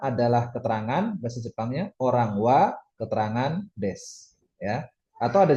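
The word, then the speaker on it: は: Artinya kira-kira adalah ingat wa dibaca wa ya bukan h itu memang begitu bukan tipo. Terus kalau partikel des itu nunjukin predikat atau keterangan tentang orang yang tadi yang jadi subjek tadi.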